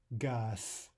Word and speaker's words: газ: Gas. Their final Z is devoiced to an S.